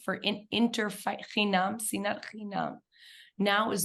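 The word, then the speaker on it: שנאת חינם: There's no room for, I always mispronounce this, sinat chinun, for interchinam, sinat chinam.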